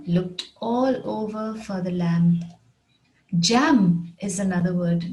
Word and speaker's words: lamb: his limb when he fell off the swing lamb is another word lamb lamb which means a young sheep the farmer looked all over for the lamb the farmer looked all over for the lamb jam is another word not j m but